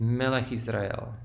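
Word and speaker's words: מלך ישראל: MLF Israel this is Malik Israel the accent is only at the end and this is pronounced as a single word we do the same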